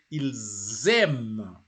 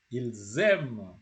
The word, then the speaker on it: ils aiment: personal pronoun, it is just an S, it means without a vowel, it has to sound like a Z. So that's why you have to say ils aiment. Ils aiment.